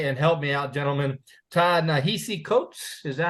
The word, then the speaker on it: Ta-Nehisi: and Me by, and help me out, gentlemen, Ta-Nehisi Coates. Is that how you say it? Ta-Nehisi, yeah.